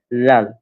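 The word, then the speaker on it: ذال: হ্যাঁ, এই দাল এবং তারপরটা হচ্ছে লাল, এটা অনেকটা নরম করে উচ্চারণ হবে লাল।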